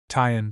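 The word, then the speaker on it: 'tention: Tyen squad abbreviated from attention and pronounced shun.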